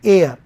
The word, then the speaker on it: heir: HEIR, इसमें H silent होता है, इसको बोलते हैं एयर, उत्तराधिकारी।